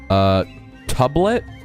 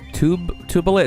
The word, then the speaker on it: Tubelet: Alright, so that robot is called Tublet. Tubelet. It's spelled T-U-B-E-L-E-T.